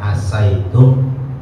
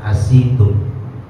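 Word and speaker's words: عَسَيْتُمْ: ituum di ayat ini oleh para ulama qiraat ini boleh dibaca asaitum boleh dibaca asitum Jadi kalau satu masa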